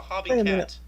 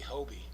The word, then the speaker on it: Hobie: okay that makes sense it's actually Hobie Hobie okay yeah that's the manufacturer's name yeah it's a Hobie